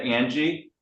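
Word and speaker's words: Ange: It's a N G E and you pronounce that Angie.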